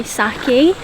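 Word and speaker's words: sake: We are actually yet to try saki. I'm pretty sure that's how you pronounce it. I think it is saki.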